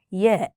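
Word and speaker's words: ي: Now let's see the next letter, Ya. This is the last vowel in the Arabic alphabet. It's pronounced just like the sound E in the word tin.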